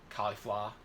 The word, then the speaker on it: Caulifla: He was able to be on par with SS2 Caulifla. I'm going to say it like that, by the way, because that's how the English dub says it.